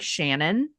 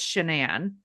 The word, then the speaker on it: Shannan: People have mispronounced her name a lot because it looks like Shannon, but it's Shannan.